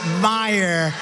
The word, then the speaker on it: Meijer: guy who spells his name M-E-I-J-E-R, but they pronounce it Meyer.